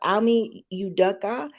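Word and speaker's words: Ime Udoka: So his name, and I hope I don't get it wrong, but it's pronounced Almi Udoka.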